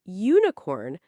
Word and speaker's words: unicorn: Because unicorn starts with the sound u like you. So even though it starts with the letter U, it sounds like a consonant.